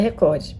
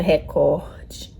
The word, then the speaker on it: Record: mas segundo eu aprendi, o certo seria Record. Record tipo, eu aprendi no cursinho, se não me engano a sílaba é no cor, então seria Record.